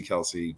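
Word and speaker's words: Kelce: the argument comes between travis kelsey or actually it's we've been saying it wrong this whole time guys travis kels and uh george kittle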